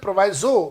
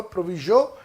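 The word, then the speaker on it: proviso: कई बार बहुत सारे लोग इसे प्रोवाइजो भी प्रोनाउंस करते हैं, वो प्रोनाउंसिएशन आप जैसे भी करते हो, प्रोविजो या प्रोवाइजो, what ever you pronounce, लेकिन इसका मीनिंग होता है द एक्सेप्शनल केस।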